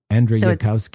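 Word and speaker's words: Andrzejewski: I think that the J is pronounced like a Y. Andrew Yukowski.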